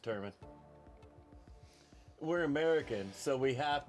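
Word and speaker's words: Wellington Turman: Adolfo Vieira going up against Wellington Truman. Turman. Yeah, it's pronounced Turman.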